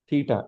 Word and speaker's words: theta: Let's say this angle is theta. The symbol is pronounced as theta.